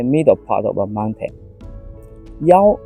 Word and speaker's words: 腰: part of a mountain young is for last the same as you can tell that they are pronounced this scene although they are not